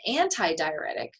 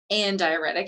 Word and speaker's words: antidiuretic: Whereas an antidiuretic, or andiuretic, as it mentions here, it's sometimes talked, it's pronounced both ways.